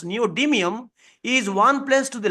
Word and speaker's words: neodymium: 146 with Neutron because neodium neodymium as we pronounce neodymium is one place to the left which is